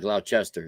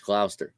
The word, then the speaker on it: Gloucester: South Jersey Burlington Camden Gloucester that's how you pronounce it not Glau Chester it's clauster Atlantic Salem Cumberland and Cape May so those